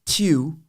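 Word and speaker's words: Tiw: It's actually pronounced Tew, and that's a foreign Norse or northern god.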